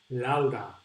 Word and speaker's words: Laura: In Spanish, we pronounce Laura. Have you noticed that we pronounce almost all vowels in the same way?